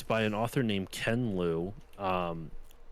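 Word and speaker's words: Ken Liu: by an author named kenlou um K Ken spelled the the way you'd expect and then Louis spelled l IU okay and he wrote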